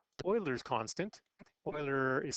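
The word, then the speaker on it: Euler: it's called boiler's constant Oiler is spelled like uler e l r but pronounced like oil what pi is to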